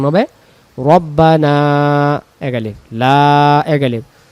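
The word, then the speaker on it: ربنا: কাসাবাত Laha half Laha রব্বানা রব্বানা রব্বানা রব্বানা উচ্চারণ হবে রব্বানা এক আলিফ তু আখি না তিন আলিফ তু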